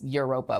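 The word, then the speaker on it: Evropa: It's Europa, but they spell it with a V because they're pretentious.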